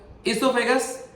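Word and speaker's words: oesophagus: आगे चलो, इसोफेगस। इसोफेगस जो होता है उसको प्रोनाउंसिएशन जो होती है ई से होती है, पर लिखते कैसे हैं देख लो आप, ओ इसोफेगस है।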